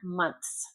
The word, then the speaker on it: months: Months. Months. Months. Then s. Months. That's a hard one. The th and s is very tricky.